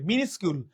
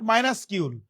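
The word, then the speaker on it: minuscule: সবাই কমেন্ট করি মিনিস্কিউল, এই উচ্চারণটা কিন্তু অনেকে ভুল উচ্চারণ করে, মিনিস্কিউল, নট মাইনাসকিউল।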